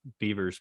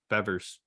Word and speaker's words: Bevers: For some reason, I thought it was Beavers, but Bevers.